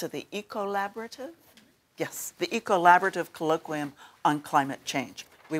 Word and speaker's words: Ecollaborative: But it's also about a consortium within this university that's been put together, which is do you pronounce it the Ecollaborative? Yes, the Ecollaborative Colloquium on Climate Change.